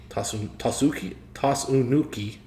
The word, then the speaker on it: Tsunuki: Tsunuki Yakushima.